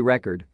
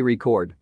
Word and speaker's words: record: of each the word if the stress is placed on the last syllable of the word ie record the word may act as a verb then mean to document or keep track of something comparatively if stress is placed on the first syllable of the word ie record the word may act as a noun and refer to a